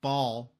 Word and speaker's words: Bhaal: BHAAL, BHAAL, because yes, I know what you're going to say, but Bahal, technically is how you should say it.